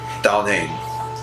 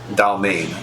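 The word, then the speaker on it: Dalmaine: So, my name is Dalnane. What? Dal what? Dalmane. Dalme. Spell that out. Yeah. So it's going to be DAL, then MAINE.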